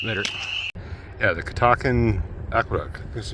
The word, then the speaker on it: Catoctin: Yeah, the Catoctin Aqueduct.